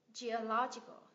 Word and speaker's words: geological: lên critical critical tiếp thuộc về địa chất đúng không kết thúc bằng Al nhấn V tiết thứ ba từ cuối trở lên geological geological geological các bạn cứ đọ